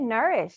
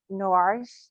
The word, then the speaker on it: Noiresh: We might have to how do you say you say it nourish. That's what I that's how I say it. Some people I think you said norish.